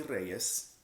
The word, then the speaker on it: Reyez: Yeah, I roll the R's because I'm sexy like that. Anyways, but it's by Jessie Reyez, and the EP is called Kiddo.